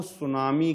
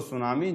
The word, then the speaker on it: tsunami: Next point देखते हैं, सागरीय भूकंपों द्वारा उत्पन्न तरंगों को सुनामी कहा जाता है।